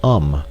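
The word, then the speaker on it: homme: bark he learned from darno that it was pronounced um and in the same way he was taught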